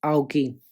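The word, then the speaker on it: Ouchi: कई बार हिंदी मीडियम के जो स्टूडेंट होते हैं वो विलियम जी आउची पढ़ते हैं। कई बार मैंने भी इसको गलत पढ़ा है, तो इसका करेक्ट प्रोनाउंसिएशन होगा विलियम जी आउकी।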